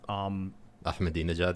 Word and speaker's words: Ahmadinejad: Ahmadinejad? Yeah, thank you for pronouncing that properly.